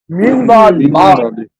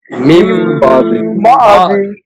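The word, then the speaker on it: مِنْ بَعْدِ: মিন বাদি মিন বাদি হ্যাঁ কিন্তু এই মিন মিন আর হবে না। এখন কি হবে? মিম মিম বাদি। এখানে একটু বিষয় হলো সরাসরি মিম নুন মিম মিম জের মিম বলা যাবে না। উচ্চারণের ক্ষেত্রে এই নুনকে উচ্চারণ করতে হবে। মিম নুন জের মিন কিন্তু পড়ার সময় হুজুর হ্যা বানানের সময় নুন বলতে হবে আর উচ্চারের সময় মিম বলতে হবে ঠিক ঠিক আর মিমটাও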